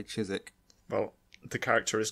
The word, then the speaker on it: Chiswick: my phone's autocorrect well because we're British we like to have excessive amount of like letters that we don't pronounce so despite Rizk it's